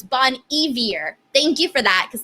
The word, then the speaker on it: Bon Iver: thank you justin says bon iver pronounced like bone eavier evier if y'all didn't know thank you for that thank you i did not i did not know that so it's bon evier thank you for that